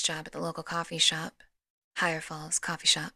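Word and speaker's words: Shope: at the local coffee shop, Higher Falls Coffee Shop, spelled S H O P E. So, I'm not really sure if Well, they tell me they pronounce it shop, but it looks like Shopppee.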